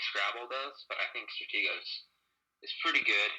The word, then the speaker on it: Stratego: Uh, Strategio. I think it's Stratego. I've That's how I never played pronounce it.